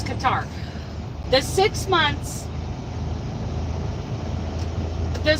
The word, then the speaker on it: Qatar: calming but I'm never C I learned in Qatar and yes that's how you pronounce Qatar the six months the 6 months I was